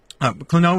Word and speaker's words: Klonoa: Klonoa is a rich environment to tell a great story. Klonoa. Where is he getting Klonoa? Where is he? He's like adding an extra syllable in the middle.